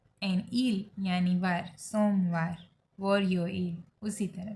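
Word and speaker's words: 월요일: Okay, तो Monday को कहेंगे वोरियो इल, प्रोनाउंस लाइक वोरियो इल।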